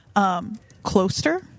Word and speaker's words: Closter: Closter Golf Center?